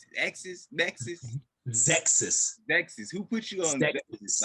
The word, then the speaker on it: Xexyz: It's called Zexus. It's even spelled weird. It's spelled XEXYZ.